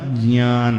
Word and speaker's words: ज्ञान: ज और चवर का अंतिम अनुनासिक ज्ञ, ज्ञान, सही प्रोनाउंसिएशन उसका ज्ञान है। ज आधा ज और च छ ज झ ञ, इन दोनों के कॉम्बिनेशन से बना है ज्ञान।